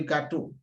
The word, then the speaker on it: gâteau: When you look at the different words here, let's start from the first one, le gâteau. Le gâteau, there's accent on the A, but it keeps the same sound A.